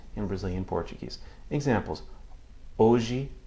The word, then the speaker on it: hoje: Examples: hoje, história. Again, hoje, história. I'm not pronouncing any audible H sound as you might hear in English.